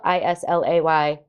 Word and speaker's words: Islay: first distillery on isla isla spelled i-s-l-a-y pronounced isla not um so isla is